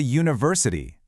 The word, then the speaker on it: university: But it's a university because the first sound is U which is a consonant sound like the word U.